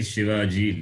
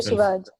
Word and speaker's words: Shivaji: Veer Shivaji leads.